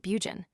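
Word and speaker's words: Burgoyne: Nutting had a famous foxhound named Bergen, he pronounced it Bugen, which my informant used to borrow.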